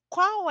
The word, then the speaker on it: qual: Mas, lembrando, quando a palavra termina em L, a gente pronuncia como U. Então, qual? Qual é a sua nacionalidade?